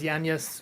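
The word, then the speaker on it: Yañez: It's probably more of a yes sound technically, but Yan Yes isn't as good of a band name as Yan.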